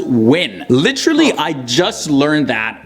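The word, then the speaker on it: Nguyen: Minh and nuyang pronounce actually it's not even new Yen I thought it was pronounced new Yen all my life but it's actually pronounced win literally I just learned that when I was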